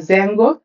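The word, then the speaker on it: Django: দিয়ে তৈরি করা হয়েছে জ্যাঙ্গো বলে ডি দিয়ে কথাটা উচ্চারণ হয় তো ডি টা অমিট থাকে জ্যাঙ্গো হচ্ছে একটা ডিজ্যাঙ্গো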